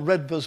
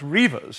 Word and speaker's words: Redvers: But anyhow, dear old Sir Redvers Buller, or I believe it's pronounced Reavers, in fact, gave his name to my father, and now my son has that name.